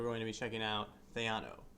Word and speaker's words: Theano: to be checking out Theano which might also be pronounced Tiano depending on your opinion oh well we'll figure